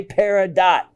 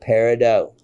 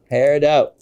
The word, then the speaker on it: peridot: please don't ever say peridot that is absolutely incorrect and would show and tell uh anybody you're speaking to that you're a rookie the correct pronunciation is a silent t peridot peridot this is a stunning